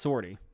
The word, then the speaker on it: sortie: actually pronounce it, but it's French for exit, Okay, I believe. I believe that. I mean, it's pronounced sortie. Sortie. Okay. What it is in Or French? I don't know. Pretty We sure it's butchered it in English, but yeah, English voiceover it definitely calls us sortie.